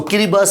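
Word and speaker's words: Kiribati: I'll say kiras now spelling of that is kirati but correct pronunciation is so kiribas Islands have been given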